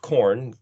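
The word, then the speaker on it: קרן: say like the word kuf, resh, noon, in Hebrew, pronounced corn, Q R N, means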